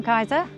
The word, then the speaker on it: Kajsa: be a lot cooler hello i'm kaiser um yes that's how you pronounce my name i first started cycling